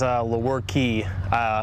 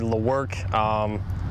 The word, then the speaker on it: Lewerke: It is Lewerke instead of, I've heard Lewerke, Lewerke, I mean all of them. I've heard just about any pronunciation of it, yeah.